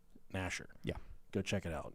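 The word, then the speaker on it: Gnasher: Clasher, and then Nasher is spelled G-N Nasher.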